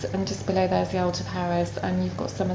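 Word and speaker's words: Alpujarras: Yeah, you're right on the edge of the Algeparas, or Algeparas as they pronounce in Spain, and again that is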